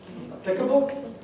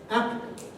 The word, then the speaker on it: applicable: as native speakers yes where's the stress in this word is it applicable or applicable well here you can